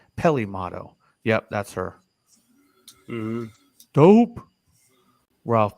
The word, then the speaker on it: Peli Motto: here Ralph's got us Pele motto and I think it's pronounced a little different Peli Peli motto yep that's her dope